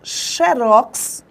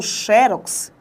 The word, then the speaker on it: xerox: Eu posso, então, pronunciar xerox ou xerox.